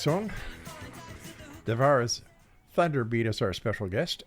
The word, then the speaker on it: Devara: Did I say it right? Devara? No, Devara. Devara. Think of Deborah.